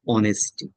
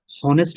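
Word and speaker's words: honesty: আপনার তো কিছু পছন্দ অপছন্দ আছে, সেটা কি, আপনি আই লাইক অনেস্টি, হনেস্ট বলবেন নাকি এখানে, অ অনেস্টি, অনেস্টি, হয়ের উচ্চারণ হবে না, অয়ের উচ্চারণ, অনেস্টি।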